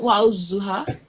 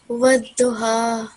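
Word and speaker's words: والضحى: Wadduha. Yep, good, yeah. So wadduha. Wadduha. So the edge of your tongue should be touching the left upper teeth when you're saying this word, and from the other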